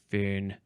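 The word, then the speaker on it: Föhn: Oh, that one is spelled fo hn if I didn't say. A warm dry wind. A fern.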